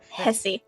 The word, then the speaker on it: Hesse: he my nickname is Hesse the H is silent yes and did I